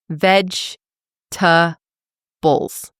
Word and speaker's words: vegetables: Vegetables, right? Not vegetables. Try to get it into three syllables if you can. Veg to bowls.